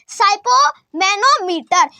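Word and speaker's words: sphygmomanometer: से नहीं पढ़ा जाएगा तो इसीलिए इसे क्या बोलेंगे साइपो मैनोमीटर जो क्या करता है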